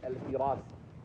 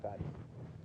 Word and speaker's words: al-Firasi: No, it's not Farisi. Yeah, it's not Farisi. The reason I know it's not Farisi, because that's why I'm having trouble pronouncing it correctly, because I want it to be Ibn Farisi. But I think it's al-Firasi right now, though.